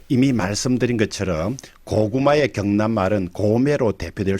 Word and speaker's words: 고매: 동부 경남에서는 고매와 같이 고고형으로 발음되는 데 비해서 서부 경남에서는 고매와 같이 저고저형으로 발음된다는 차이가 있습니다.